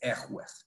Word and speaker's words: Yahweh: Yah, Yahweh, Yahweh, Yahvé, Jehová. Es como todas las modificaciones hasta llegar a Jehová. El original es Yahweh.